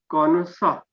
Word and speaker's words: connoisseur: it is a french word it will be pronounced as cornusa konosa means who has a uh who has